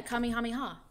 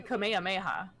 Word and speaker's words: Kamehameha: What is the one where they call it the kamehameha? Well, that is that attack. Yeah, the kam. But when they're saying it on the show, it's Kamehameha. Right.